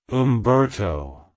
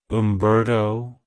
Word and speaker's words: Humberto: the Germanic elements of hun and Bert it's pronounced as Umberto Umberto Umberto to pronounce it correctly emphasize the hoop sound